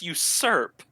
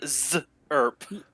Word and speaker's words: usurp: what usurp means right it's pronounced you serp yeah usurp serp yeah serve you said z erp yeah exactly uh the lundo isms